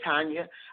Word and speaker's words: Tania: She actually spells her first name Tania, but she pronounces it Tania.